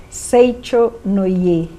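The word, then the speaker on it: Seicho-no-Ie: Bom, Valmira, Seichonoye, qual que é a pronúncia correta? Seichonoye.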